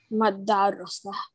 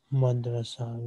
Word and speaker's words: madrasa: Madarasa. That is too much syllables. Madrasa.